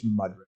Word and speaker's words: Mudrick: Mudrick Capital. I've been mispronouncing it. It's Mudrick.